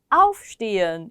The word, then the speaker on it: aufstehen: auf라는 거는 분리전철인데요. 그래서 강세를 가져요. 동사 원형을 읽으실 때도 aufstehen 이렇게 읽게 되는데 비분리 동사는 비분리 전철의 강세를 갖지 못해서 두 번째 음절에 보통 강세가 가게 됩니다.